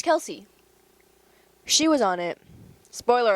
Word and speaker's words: Kelce: Him, Travis Kelce. Yeah, it's Kelsey.